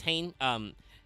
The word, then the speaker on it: Hane: This is just a weird lawtism, but with the way that's pronounced, I'm just thinking Witchcrafter Hane. Yeah, I know. I'm not surprised. But obviously, we now know that, you know, you should not pronounce Hane that way. It's Hane.